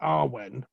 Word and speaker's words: Awen: So the Druid Arwen, which means the muse, is 3 sounds. Ah, ooh, so it's A, W, N. Some people pronounce it as a word like Arwen, but as a chant, it's better separated into Ah, ooh, and This is the Celtic